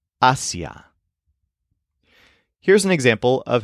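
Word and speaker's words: hacia: have an accent mark so instead of being pronounced AIA it's pronounced Asia here's an example of how you might use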